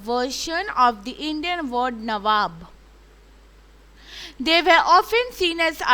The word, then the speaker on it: nawab: the indian con that the britishers cannot pronounce many words and nawab is one of them so to call that so they mean to be as nawab but they can't pronounce the word and so they are called naboobs how did cliff see himself